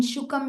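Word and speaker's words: शुकम्: In Shukam you're asking? Yes. It is when you are separating it is K-A-M. Okay. But when you are telling it together, Shukalayanti is what will come.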